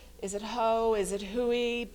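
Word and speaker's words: Hooe: it who is it Huey it's spelled h-o-o-e and so one of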